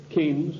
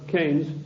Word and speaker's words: Keynes: they sent John Maynard Keynes or Keynes he said Keynes was a better word because it arrived with it rhymes with brains and this is a